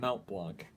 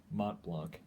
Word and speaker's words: Mont Blanc: Yeah, not Mount Blanc, Mont Blanc. It's French. It's actually pronounced like Mont.